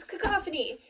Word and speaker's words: cacophony: This week's word is cacophony. It's a noun and it's not pronounced cacophony as much as you want it to be.